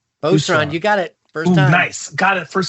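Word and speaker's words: Booz Allen: Boozallen? Boozallen, you got it first time.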